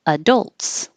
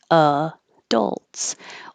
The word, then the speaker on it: adults: can pronounce two ways it can have stress on the second syllable adults adults or you can put stress on the first syllable and now the ad sounds like ad adults adults both are fine okay